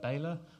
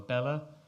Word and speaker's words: Bela: and it's powered by a board called a baler or Bela I asked a guy who invented it and both pronunciations are correct and it was developed